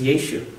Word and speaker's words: Yeshua: me do this in Aramaic pronunciation is Yeshua Aramaic now do you